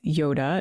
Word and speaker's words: Yodha: And the word is Yoda. It's spelled Yodha, but it's pronounced the same.